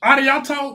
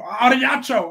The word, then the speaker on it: arigato: Arigato, what it is?